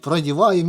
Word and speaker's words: продеваем: Я говорю: "Проселяем". Правильно говорить: "Продеем". Меня постоянно поправляют. Почему-то в нашей местности говорят: "Проселяем".